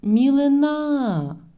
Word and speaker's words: мілина: малина на другому складі а в наступному складі буде такий наголос мілина на третьому складі в залежності від цього